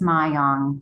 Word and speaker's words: Myong: And Elizabeth, I said your name wrong. It's Myong.